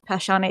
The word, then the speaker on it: Passione: I think it's pronounced Passione. It's passion with an E at the end.